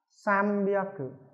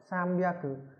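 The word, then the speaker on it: 三百: Nên chúng ta sẽ đọc là sambyaku, sambyaku.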